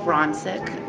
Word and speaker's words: Ronsick: last name it's rachel ronsick like you have a friend named ron who's sick ron's sick that's how you say my name i've been watching her